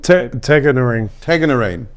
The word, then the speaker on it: Tagnarine: Tangerine, was it? Tagnarine? Tagnarine.